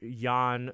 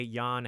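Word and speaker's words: Jan: uh nod to uh mr yawn spelt with a j yawn hammer j a n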